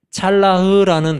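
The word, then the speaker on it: צלח: 오늘 배울 단어는 찰라흐라는 단어예요. 좀 어렵지만 기억해 보세요. 찰라흐 이렇게 발음하는데 따라서 한번 해볼까요?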